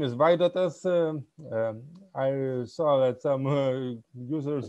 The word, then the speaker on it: Vaidotas: very briefly yeah sure so my name is vaidatas i saw that some users were asking how to pronounce my name so here you go it's vaidatus i'm from lithuania yeah so basically i'm a